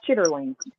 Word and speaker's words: chitterling: it's like now yeah I a eat no chitlings I I I I refuse to eat chitlings um and you know you know the correct pronunciation is chitterling of course but English how we young to